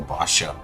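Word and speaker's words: Baxia: Frederick even um even a Batia or Basha as it's pronounced.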